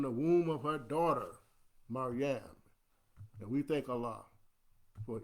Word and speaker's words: Maryam: But you know the story, what happened after Maryam came, let me pronounce that correctly, Maryam came, her son, Isa, Jesus, Isa ibn Maryam,